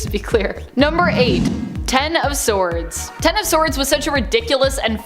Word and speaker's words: X of Swords: it kind of was X of Swords pronounced ten of swords in real relation to the tarot card is a mutant event